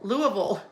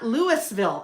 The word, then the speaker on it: Louisville: If there's anyone in Kentucky, that is either Louisville or Lou. Louville. Louisville. Louisville or Louisville. Louisville. Not Lewisville. I know it's not Louiswisville, but Louisville.